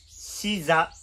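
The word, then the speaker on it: 刺座: れるものにはシザというものがありますこのシザというのはトゲに座る台座の座と書いてそれでシダと呼びますこのシ座って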